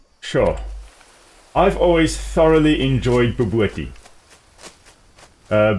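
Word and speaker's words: bobotie: in it B so it's called it's it's pronounced bti but it is spelled Bob otai and uh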